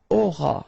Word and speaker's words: auras: Alright, then tu auras. Final S not pronounced.